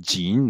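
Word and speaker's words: 井: Certains disent que c'est le puits, et le puits se prononce jin, donc ça serait un élément phonétique.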